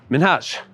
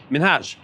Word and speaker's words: Minhaj: Minhaj, that's where people have a problem. And that's the one that actually does follow pronunciation rules for English. Because INHA is a letter combination that we have in English that's pronounced the same way in the word inhabit.